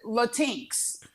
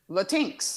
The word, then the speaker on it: Latinx: Well, first of all, the way it's spelled, you would pronounce it Latinx. There's no hyphen. There's no capital X. It's just Latinx.